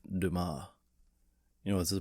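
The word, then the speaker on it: Dumas: Uh, the Count of Monty Krisco by Alexandria Deamass. Dumbass. Uh, what's that? That's pronounced Duma.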